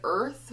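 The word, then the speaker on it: Urth: This is the ColourPop Light Sticks in the shade Earth, which is spelled U-R-T-H.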